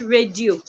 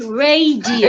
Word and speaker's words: radio: We have radio, not radio. It's radio. It has three syllables. Yoruba tongue is there. Radio. Exactly, not radio. It's not two syllables.